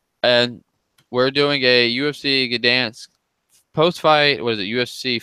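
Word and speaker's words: Gdańsk: And we're doing a UFC Gdansk post-fight. What is it? UFC Fight Night 118. Correct. And, Toronto. yes. Very good pronunciation of that Polish.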